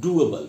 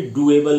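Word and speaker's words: doable: किया जा सकता हो डी ओ ए बी एल ई को भी डूबल नहीं बोलेंगे डूबल बोलेंगे एक और वर्ड बताता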